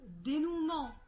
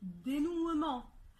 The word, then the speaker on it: dénouement: في E موجود فيه، مع ذلك ال E ده مش بننطقه، احنا مش بنقول licenciement، احنا بنقول licenciement. ناخد كمان فعل dénouer، احنا بنقول dénouement، ما بنقولش dénouement.